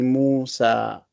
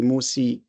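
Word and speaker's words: موسى: But this has got an alif, so we say Musa. Don't say Musi, but Musa.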